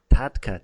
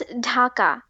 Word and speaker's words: Dhaka: Actually, you pronounced it Dhaka, didn't you? No, it's Dhaka.